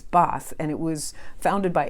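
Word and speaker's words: Bath: a town called boss it's spelled bass but it's boss and it was founded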